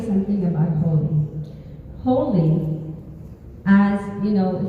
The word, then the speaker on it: Holi: say something about holy holy as you know if you don't know how to spell it it might sound like h o l y and it's h o l i but it's the same because it is God